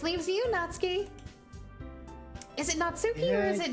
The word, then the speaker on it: Natsuki: natsuki or is it natski actually I'm like 99% sure it's natsuki okay just when I first played the game I accidentally said natski and it stuck my head okay Nat I've said your name wrong for two videos in a row now girl I'm so sorry